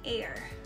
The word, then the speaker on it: heir: child could be an heir okay on air why and because the sound is like you know beginning with this vowel letter so h is silent the awardee is an